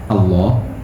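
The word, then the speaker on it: الله: Allah sebagai kata, sebagai simbol, ini kan ada yang bacanya mufakham, bahasa tafsir Allah, ada yang dibaca muraqqaq, Allah.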